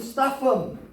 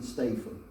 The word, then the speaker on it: Statham: was it oh my okay we've got Jason Statham and maybe he looks a little lightning to